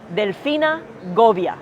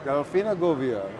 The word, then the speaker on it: Delfina Govia: freaking Driscoll have got to learn how to pronounce my name Delina goia Delina goia there you go all right so first this